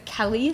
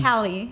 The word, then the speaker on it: Callie: Like California, Cali? Yeah, like California. Right. That's how you Right, pronounce Cali. it. Exactly. Everyone thinks my name is Kelly, like Kelly. Right. But Callie. Cali. California. Cali.